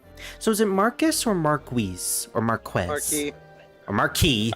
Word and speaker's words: Marquise: If it doesn't have the E on the end, it's Marquis. If it has the E on the end, it's Marquise. Right.